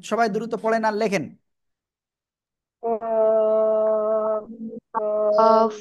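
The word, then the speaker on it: كاف: কফ কফ কফ কফ না, calf, calf. আকার হবে কাফ।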